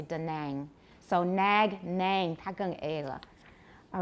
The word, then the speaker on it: Da Nang: do have that word in a place name da nang in vietnam they'll say da nang so nag nang tag all right so these